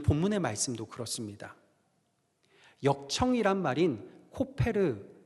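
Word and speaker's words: כֹּפֶר: 역청의 히브리어 발음이 뭐냐면요, 코페르입니다. 칠하라 하는 칠하다의 히브리어 발음은요, 카파르입니다. 그러니까 14절 말씀을 히브리어식으로 읽으면 이런 거예요. 너는 고페르 나무 방주에 코페르를 카파르하라.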